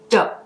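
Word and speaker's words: Doux: right French accent, but doe is the way that I've been told that this is pronounced. So if I'm butchering it, I do apologize, but I at least understand that that is the correct pronunciation.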